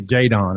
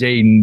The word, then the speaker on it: Jaedon: of your teammates say jaydon is that how you pronounce your name no it's pronounced Jaden but I have this